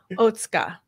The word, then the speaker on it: Otsuka: I'm going to try not to say it too often, but it is Otsuka. Yes, that's it.